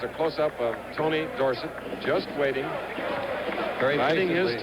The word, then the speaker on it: Dorsett: and West Dorset recently Tony says we should pronounce his name Dorsett however too many people know it the other way Crispin time to change it too late his parents know it Dorsett 35 now for Penn